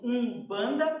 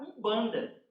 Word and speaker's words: Umbanda: nós a portugues né O um banda para Umbanda aí foi rapidinho né de falar com som anasalado é difícil né né Para nós então nós acabamos pronunciando Umbanda Então veja só que